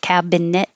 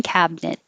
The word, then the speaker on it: cabinet: i use cabinet and instead of cabin net you can get rid of the middle it and just have two syllables cabinet kitchen cabinet frizzy is the word